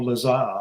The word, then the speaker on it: Lazar: Well, I would say it's Bob Lazar, and he calls himself Bob Lazar. So and I say Robert Laser, but go ahead.